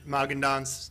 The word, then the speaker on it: Magendanz: I just met Chad Magendanz today.